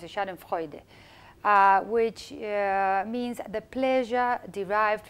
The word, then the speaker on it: schadenfreude: a German Shedden Friday challenge I think you pronounce a schadenfreude which means the pleasure derived from another's displeasure